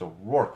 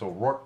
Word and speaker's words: O'Rourke: It's O'Rourke, fools. Don't be a dork. Pronounce O'Rourke correctly. And it rhymes with dork.